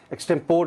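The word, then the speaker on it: extempore: First word है आज की लिस्ट पे हमारे पास एक्सटेम्पोरे। एक्सटेम्पोर नहीं, ये जब मैं स्टूडेंट था तो मैं ये सुनता था कुछ टीचर्स और प्रोफेसर से, एक्सटेम्पोर नहीं है, एक्सटेम्पोरे।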